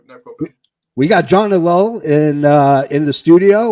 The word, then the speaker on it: Ellul: your last name uh I pronounce it alone but everyone pronounces it differently so how many of you guys want to go no problem we got John de Lowell in uh in the